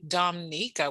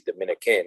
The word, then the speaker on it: Dominica: telling him that he's Dominican and he's like no I'm not Dominican I have family from Domico yeah Dominican people say Dominica they don't say Dominica Dominica it's like that first eye is silent Dominica okay okay and